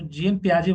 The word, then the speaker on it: Jean Piaget: जेन, JEAN PIAGET। तो जीन प्याजे बोलते हैं, मतलब बोलने के लिए हम बोलते हैं इसको जीन प्याजे, जैसे तो पियागेट हो गया, टी है ये।